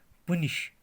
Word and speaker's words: punish: हम इसको आमतौर पर कहते हैं किस तरह प्रोनाउंस, पुनिश, मगर पुनिश गलत है. यह है प अ न इ श, पानिश, पानिश, पानिश.